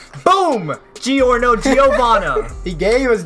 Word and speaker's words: Giorno: love G or no G or no is fire and his name rhymes with DiGiorno so you know it's